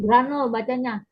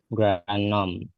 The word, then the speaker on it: Grundnorm: Secara etimologis, istilah fondasi negara identik dengan istilah " Grundnorm" atau norma dasar, yang berarti pengucapannya bukan "granel." "Grund." Jadi, Anda mengucapkan 'R' tetapi langsung ke 'M'—norm, norm, norm, norm. Grundnorm.